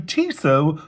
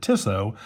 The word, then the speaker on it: Tissot: Today I have the brand new Tisso. Notice I'm pronouncing it correctly this time instead of Tiso.